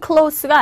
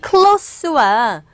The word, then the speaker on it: close: 근데 이 close와 똑같은 단어지만 발음이 close와 틀립니다. 얘는 보시면은 close라고 발음되는 이 친구는 형용사예요. 형용사고 close로 발음되는 이 친구는 뭡니까? 동사입니다. 그래서 가까운, 그죠? 그래서 this is my close friend가 되고 얘는 close the door 동사로서 발음이 각각 다르다는 거 요거 정리해 주시면 되겠고요.